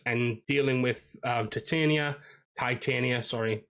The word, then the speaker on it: Titania: dealing with um Titania Titania sorry I I say Titania but I know a lot of people don't um prescribe to that um pronunciation but like there's an